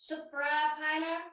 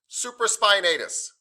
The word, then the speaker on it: Supraspinatus: Suprapiner. Supra? Suprapiner. You're absolutely right. I just want to help you pronounce it, but you're absolutely right. So supra, spine, atus. Supraspinatus.